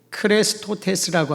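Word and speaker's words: χρηστότης: 친절 또는 자비로 번역된 이 단어의 원어는 크레스토테스라고 합니다. 예수님을 뜻하는 크리스토스와 발음이 흡사하지요.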